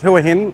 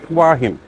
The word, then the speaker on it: Hua Hin: Not Huahin, as I pronounced it earlier, Wahin.